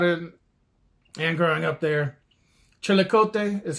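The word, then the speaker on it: Chillicothe: Chilikote is how they pronounce it. Uh, but you can say chilikathy.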